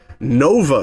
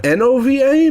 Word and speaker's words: Nuova: It is spelled N-U-O-V-A instead of N-O-V-A, but whatever. I'm going to pronounce it Nova, because Nuova sounds fucking weird.